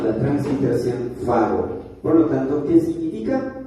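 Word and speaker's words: φάγω: 5315 la escritura, la pronunciación o la transliteración fago.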